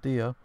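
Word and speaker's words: Diya: It's even more like it if you say your name wrong, like Daya instead of Dia.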